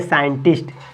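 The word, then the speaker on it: scientist: लिखा हुआ है देखिए य एस और सी के बाद आई है इसका मतलब सी साइलेंट हो जाएगा इसको इसको रीडिंग करेंगे साइंटिस्ट क्या रीडिंग करेंगे साइंटिस्ट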